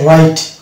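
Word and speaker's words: write: শব্দ স্টার্ট হয় সেক্ষেত্রে কিন্তু আমরা ডব্লিউ কে সাইলেন্ট পাবো যেমন শব্দ এখানে রয়েছে যেমন রাইট এখানে ডব্লিউ স্যার থাকছে এবং আর দিয়ে উচ্চারণ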